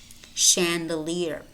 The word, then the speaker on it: chandelier: Champaign parachute parachute Michigan Michigan brochure brochure chandelier chandelier Chevrolet Chevrolet notice how the final T is pronounced yet Chevrolet machine machine and it might